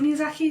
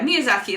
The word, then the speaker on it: Miyazaki: Is it Miyazaki? Is that his name? Yeah, Miyazaki. Let's just go with Miyazaki, because I'm pretty sure I'm pronouncing that right.